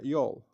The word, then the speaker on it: y'all: Este se dice eh you all o la contracción que sería y así se escribe la contracción sería yol como yola.